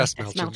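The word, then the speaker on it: Dastmalchian: David Dasmalchian is fabulous. Yeah, And I counted for you, Brian. Right. Has it always been Dasmalchian? Brian. Is it Dasmalchian? Do we know for sure? Dasmalchian.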